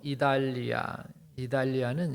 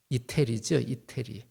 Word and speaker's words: 이달리아: 그래서 27장의 이제 내용을 1절에 보면은 배를 타고 이달리아는 옛날 발음이고 우리로 얘기하면 이태리죠.